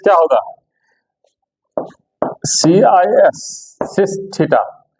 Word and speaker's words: cis: cos short में देखो, short में कैसे लिखा जाएगा, cos theta plus iota sin theta को हम CIS लिखेंगे, सी आयोटा s, सिस पढ़ेंगे, क्या पढ़ेंगे, pronounce सिस theta, C फॉर cos, S फॉर sin, I for iota.